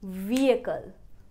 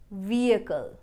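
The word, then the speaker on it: vehicle: take its own separate attention So the right pronunciation will be ve-ae-cle Could I park me ve-ae-cle here? vehi-cle is very stupid pronunciation Look for is our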